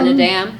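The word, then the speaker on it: Naadam: How do you pronounce the Nadam? Not Nadam.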